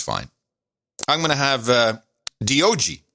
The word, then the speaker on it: Dog: But I pronounce it D-O-G.